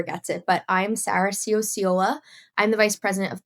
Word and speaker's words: Ciociola: But I'm Sarah Sio.